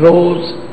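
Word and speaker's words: रोज़: बंदे खोज दिल हर रोज, लिखिया हर रोज है, पर फारसी विच जदों इहदा उच्चारण हुंदा जजे दे पैर विच बिंदी ला के रोज करना, रोज।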